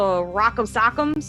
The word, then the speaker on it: Rowkem: They're called the Rock'em but it's spelled ROWKEM, so it's like a weird way of spelling it, but they're really kind of like an interesting individual group.